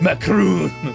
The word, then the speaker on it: Macron: He sent an official letter to French President Emmanuel Macron, or Macron, I don't know how to pronounce it. Macron.